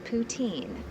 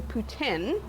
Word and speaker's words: poutine: But what exactly is poutine? It's actually poutine. Oh, I've been pronouncing it wrong.